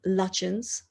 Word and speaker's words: Lutyens: So the correct pronunciation of the architect, Edwin Lutyens.